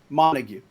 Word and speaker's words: Montague: Montague. Montague. All right. Yeah. I do know how that's pronounced because of Shakespeare, but I wanted to be sure.